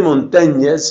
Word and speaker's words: Montaigne: muy interesante montaigne se se escribe el apellido Michelle Michelle de montañas se pronuncia Michelle de